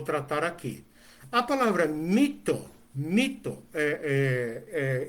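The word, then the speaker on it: μῦθος: aqui a palavra mito mito eh eh eh escreve com y e pronuncia como um tipo de I misturado com u né mito eh significa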